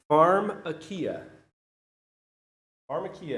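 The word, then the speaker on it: φαρμακεία: I pronounce it right it is Farm a Kia is does that sound like any English order we have Pharmacy right we're like already connecting some Dots here that word is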